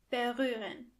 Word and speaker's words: berühren: First of all, the ha is silent.